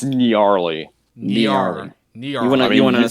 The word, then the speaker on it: Nyarly: Is it Gnarly or Gnarly? It's Gnarly. Gnarly. Gnarly. You wanna spell the pronunciation in the chat for us? Yeah. It's like, you know, Nyarlathotep from, like, Lovecraft.